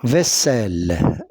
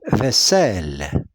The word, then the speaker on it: vaisselle: Pour éviter le son Z, qu'est-ce qu'on a fait ? On a doublé la consonne I de On a doublé la consonne S pour ne pas prononcer Z z parce qu'il y a deux voyelles qui encadrent ce son vaisselle.